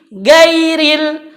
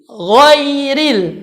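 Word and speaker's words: غير: Istiana maka bunyinya tebal maka bukan ghairil tetapi Woi Read woi read dijalankan Karena disana adanya sukun Woi jin dan huruf Korea pun tipis karena dia berbaris kasrah bukan woi woi woi Rin salah tetapi Woi Rin hoiril nah itu yang benar kemudian ada lagi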